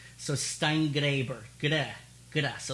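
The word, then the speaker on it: Steingraeber: She said, you have to pronounce the name. So Steingraber, good.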